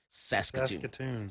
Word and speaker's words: Saskatchewan: i can't say that how you say it saskatchewan saskatchewan saskatoon yeah yeah i don't live in canada